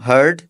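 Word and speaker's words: heard: second and थर्ड form हर्ड हर्ड इसको यर्ड नहीं कहना सेकंड एंड थर्ड फॉर्म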